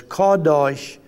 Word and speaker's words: Qedosh: Deutsche k-a-w though it's not spelled that way it's spelled q-e-d-o-s-h like but it's kadosh k-a-w hyphen d-o-s-h yes or like y-i-s-r-a-e-l or